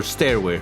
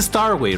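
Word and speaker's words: Starway: star star way or stairway it's a star way right I've been saying it wrong um because it's Stars I was saying it's there as if it was a a flight of stairs because in the end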